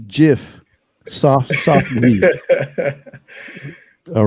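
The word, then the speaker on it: GIF: images and other large asset also do you pronounce it ave for eve it's jif soft soft meat all right patrick mean in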